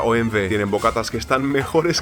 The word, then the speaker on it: OMV: Para Erin, una parada obligatoria es la gasolinera OMV, que se pronuncia OMV.